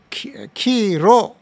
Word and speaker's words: khīro: 〈khīro／khīlo〉 duddha というのは乳しぼることそこで khīro の場合は乳は khīro と言うんですね R 使うんですこれは日本だったら大丈夫ですね R と L の差が全然ないんだからカタカナにすればキーロー (khīro) キーロー (khīlo) ですね両方も大丈夫ですでもパーリ語では R と L は相当差があるし二つですから khīro は乳で khīlo は杭なんです杭でしたっけ？